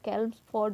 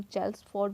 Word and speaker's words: Chelmsford: कैल्म्सफोर्ड बोल दो या फिर हम चेल्म्सफोर्ड बोल सकते हैं, इट डिपेंड्स ऑन प्रोनाउंसिएशन।